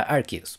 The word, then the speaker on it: Arceus: este juego es que al ceus se pronuncia artist y así como ese